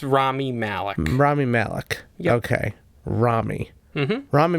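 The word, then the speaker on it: Rami Malek: you say his name not quite it's rami malik rami malik okay rami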